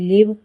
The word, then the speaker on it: live: याद करना पड़ता है, जैसे GIVE गिव, LIVE लिव, MACHINE machine. सब साइलेंट ई से ख़त्म हो रहे हैं, लेकिन इनकी साउंड ई है।